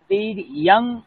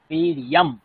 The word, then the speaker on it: বীর্যম: বীর্যং বলবো না, ম উচ্চারণ করবো, ম। বীর্যম। বীর্যম।